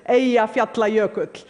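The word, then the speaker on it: Eyjafjallajökull: friends including President Obama by the way the pronunciation is AE fer player cook none of your media got it right but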